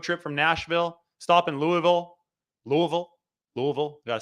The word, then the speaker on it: Louisville: I will document my road trip from Nashville, stop in Louisville. Got to say it right. Louisville, stop there.